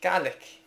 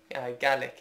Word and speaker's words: Gaelic: and in Scotland um I say we speak GIC because well in the Scottish gelic language the word for that language is something like gik so they just like use that um pronunciation in English as well so they say GIC so I don't know how